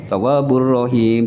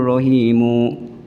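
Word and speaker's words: الرحيم: Kalau dibaca waqaf ya tawwabur rahim, jangan innahu huwat tawwabur rahimu.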